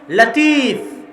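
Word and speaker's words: لطيف: তাহলে আব্দুল লতিফ নামে নাম আছে মানে লতিফ আল্লাহর নাম। কিন্তু সঠিক উচ্চারণ হচ্ছে লাতিফ। সঠিক উচ্চারণ কি? লাতিফ। লতিফ এটা সঠিক উচ্চারণ নয়। লাতিফ হচ্ছে সঠিক উচ্চারণ।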